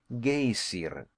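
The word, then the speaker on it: Geysir: The gazer, a word the Icelanders pronounce gayer and which signifies fury, rose majestically from its summit.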